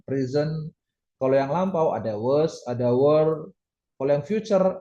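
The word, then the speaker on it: は: enggak enggak tipo ya ini emang benar sebagai partikel hiragana H ini dibacanya wa nah kalau nulis partikel wa itu pakai hiragana H ya itu kan pakai hiragana wa terus ini juga sama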